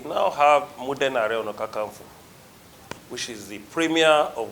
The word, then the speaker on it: Kakanfo: Are Ono Kakanfo, not for.